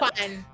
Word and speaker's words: Juan: Juan. Yeah, you gotta say it like that though. You gotta say Juan. Juan. Perfect. I love it. Yeah, you gotta say it like you're coughing a little.